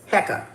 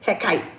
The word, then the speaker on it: Heka: Heekkah with the See, we say it like this. Black folks say it like this. Heka. White folks Wiccans. Heckite. Okay. So two different ways.